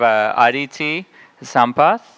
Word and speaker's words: Aditi Sampath: So next up, we have Aditi Sampath.